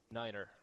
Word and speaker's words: niner: one that everybody knows nine is said like Niner I said you don't